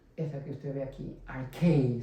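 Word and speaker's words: ἀρχή: Ahora, la palabra en el idioma original griego para principio es la palabra, esta que usted ve aquí, archei se pronuncia.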